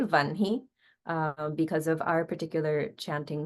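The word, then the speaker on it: वह्नि: So instead of saying Vahni, we say Vanhi.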